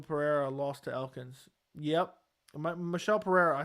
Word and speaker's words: Michel: Crazy that guy that beat Michael Pereira lost to Elkins. Yep. Michel Pereira, I said pronounce his name wrong, but he gassed out.